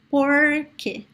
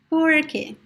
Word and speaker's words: porque: So you could say porque, porque, porque.